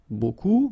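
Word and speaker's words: beaucoup: means a lot of it look it looks a bit strange B like that remember you don't pronounce the final P okay and then you get this combination of vowels a u and you get the sound o so technically it's B okay so it's not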